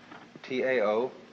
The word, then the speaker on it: Tao: So their principle of nature is called the Tao, T-A-O, pronounced Tao in the Mandarin dialect, Tao in the Shanghai dialect, To in the Cantonese dialect.